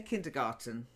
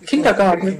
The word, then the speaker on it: kindergarten: Remember, we do say kindergarten, by the way, in English. Oh, kindergarten with a hard G.